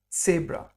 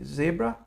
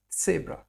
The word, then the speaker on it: Zebra: So you need to pronounce the T and the S in order to pronounce sat. So you'll hear me say sabra. I don't say zebra, but sabra.